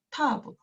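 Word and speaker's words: תו: 그 다음 마지막으로 타브하고 테트인데 둘 다 T 사운드를 내는데 사실 테트는 타브보다는 깊은 소리, 즉 호음처럼 밑에 점을 가지고 있거든요. 그래서 텟, 텟, 얘는 타브, 타브 그런 차이를 가지고 있습니다.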